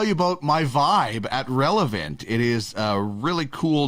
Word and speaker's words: Relevnt: So all you have to do is download the app from Relevant. And remember, the last E is silent. So it's RELEVNT.